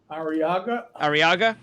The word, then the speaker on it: Arriaga: How do you pronounce his last name? Arriaga.